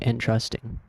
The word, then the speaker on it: entrusting: Entrusting stresses the second syllable.